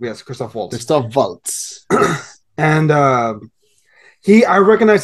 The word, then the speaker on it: Christoph Waltz: I was like, I want to make sure I pronounce it correctly. Yes, Christoph Waltz.